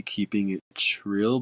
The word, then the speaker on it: keepingitrill: So first, a lot of people really do pronounce it as real, but it's actually keeping it trill. But I didn't want to add the extra T, so I just kept it as is.